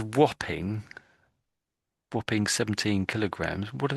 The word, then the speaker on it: Wapping: But there's a a place in London called Whopping and it's built this way over here.